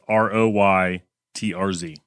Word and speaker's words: Reuters: it's the pronunciation is Roytrz.